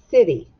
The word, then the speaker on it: city: i Ty y City it actually has two syllables and because it has two syllables the Y is going to make the sound of e put the mron up above now city starts with an S sounds like it starts